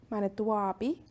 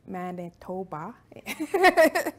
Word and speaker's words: Manitowabi: and that I come to you from Manitoba, Manitouabi, which is where the spirit lives, also mispronounced as Manitoba, which doesn't sound as cool.